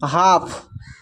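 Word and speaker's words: half: प्रश्न में भी यहां पर कहा गया है एफ आए अगर एल के बाद तो एल साइलेंट होगा। इसको पढ़ रहे हैं। हाफ काफ शुड डी भी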